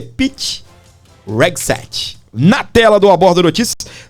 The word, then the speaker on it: Hegseth: Como é que pronuncia, Gladys? É o Pete Hegseth, é o secretário.